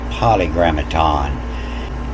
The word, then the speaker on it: polygrammaton: It's French, like Paris is pronounced Paris. And so after a consonant, the I-S is pronounced E. So it's poly, the polygrammaton.